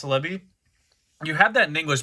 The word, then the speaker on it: Celebi: you have the celebi mew version yes that's how you pronounce celebi you have that in english but this one